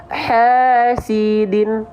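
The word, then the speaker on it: حاسد: Hasidin. Bukan hasidin banget, jangan pakai D, tapi pakai dal.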